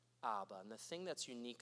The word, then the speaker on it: Abba: ministry and it was this Aramaic word for father that's pronounced Abba Abba and the thing that's